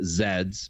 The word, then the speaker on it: Z: is two L's to Zeds because in Canada we pronounce it Zed not Z with Michael go our